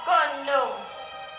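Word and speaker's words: Khnum: at once I am condom That's K H N U M The H is silent I know the river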